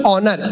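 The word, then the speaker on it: honor: अब ये बोला होनेस्ट नहीं ऑनेस्ट, होनर नहीं ऑनर, इसमें एस साइलेंट आता है।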